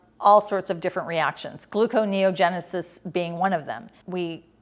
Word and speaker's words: gluconeogenesis: So we wake up, we're in this hungry state, and the next thing you know, we're able to go through gluconeogenesis.